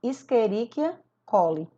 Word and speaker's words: Escherichia coli: Esse exemplo aqui, ó, que está em vermelho em primeiro, ele se pronuncia assim, ó, Escherichia coli.